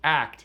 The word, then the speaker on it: ACT: and commitment therapy or act AC pronounced act for short Act was created by